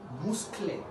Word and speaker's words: musclé: Il est musclé.